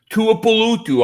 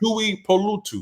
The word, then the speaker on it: Tuipulotu: And then you had in the 6th round you had Marlon Tuipulotu. I shouldn't even try to say his name. Oh, you got it right, bro. Did I really get it right? Holy crap. Tuipulotu.